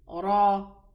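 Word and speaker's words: ر: The Ra that has a fatha or a dhamma is pronounced elevated. Otherwise, with a kasra, it's pronounced without elevation. So we say Ra, Ru, Ri.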